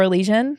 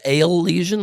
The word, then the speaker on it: Elysian: I actually did a beer commercial for Elysian when I was at Evil Geniuses.